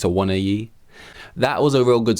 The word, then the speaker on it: Awoniyi: I always in my head pronounced it as Awoniyi, but there is a little sneaky extra I in there, so maybe it's Awoniyi.